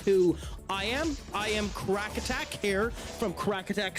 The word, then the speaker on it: Craic: You can also call me um Craig because Americans potentially can't pronounce crack.